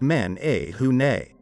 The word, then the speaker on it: menehune: first one is the menehune kind of pronounced like men a hunei from what i understand